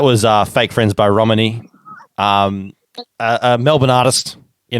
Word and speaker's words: Romanie: the interview that was uh fake friends by romini um a melbourne artist you know what it's